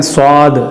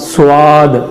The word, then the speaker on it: صاد: صاد کے پڑھنے میں اکثر غلطی ہوتی ہے, پڑھتے ہیں صاد سواد, واو کی ہلکی سی بو آتی ہے اس کے پڑھنے کے اندر, تو صحیح تلفظ ہوگا صاد صاد.